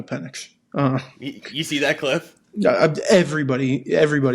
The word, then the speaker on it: Penix: You mean Michael Penis? No. I pronounced it correctly. It's Michael Penix.